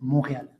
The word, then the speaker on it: Montréal: Avec le temps, le la prononciation a changé et donc aujourd'hui, c'est Montréal.